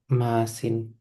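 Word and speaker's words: ܡܐܣܝܢ: Dan itu plural masculine karena Debuk Dono yang masin. Jadi bacanya masin ya. Masin. Masin.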